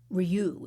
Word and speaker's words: RIU: But this hotel, Ryu is the way it's pronounced, RIU, is fully committed